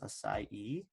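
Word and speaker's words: açaí: I was telling you about here acai it's pronounced acai and let's just put that in here real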